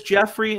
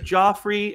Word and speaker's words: Joffrey: doesn't pronounce stuff right he says Jeffrey instead of Joffrey and he just does